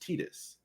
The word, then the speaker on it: Tidus: fantasy 10 you know the main characters are titus and yuna at the time there wasn't they